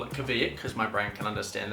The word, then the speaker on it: Kveik: One yeast she mentions is something called Kavak, actually pronounced Quake, but I'm just going to call it Kavik cuz my brain can understand that a little bit better.